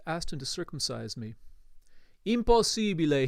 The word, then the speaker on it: impossibile: Impossibile, he protested, pronouncing the word with long Italian vowels. Impossibile!